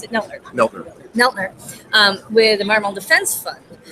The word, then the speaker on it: Neltner: And you have a really, and I'm going to also introduce Tom, so you pronounce it Neltner. Neltner, with the Environmental Defense Fund, which I've known